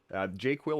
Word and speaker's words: JQL: My argument is the proper way to say that word is JQuil. So when you see this word, it's made up, but it's the proper way to say JQL.